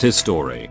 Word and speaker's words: HIStory: Hi Story, pronounced His Story, is a Taiwanese streaming drama anthology series created by Changting Fei for the online streaming service Line TV.